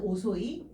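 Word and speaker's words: 遅い: 얘를 음독으로 읽어주게 되면은 치꼬끄 치라고 읽어주게 되는데 훈독은 뭘까요? 일단 오소이 또 맞아요.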